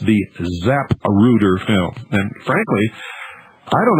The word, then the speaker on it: Zapruder: and handling and uh the zap rooter film and i'm pronouncing it very carefully folks because we're getting orders